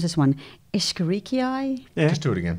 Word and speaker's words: Escherichia: I never know how to pronounce this one. Escherichiae? Yeah. Just do it again. Is that how you do it? Escherichiae, absolutely.